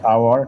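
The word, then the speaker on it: hour: 4-এর দাগেরটা, 4-এর দাগের I have dash আওয়ার to complete this book. তাহলে আওয়ারের আগে কি বসবে? আওয়ারের আগে অ্যান বসবে, যেহেতু এইচটা সাইলেন্ট থাকছে।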